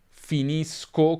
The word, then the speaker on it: finisco: Finisco come sconto, per esempio, finisci come sci, finisce come pesce.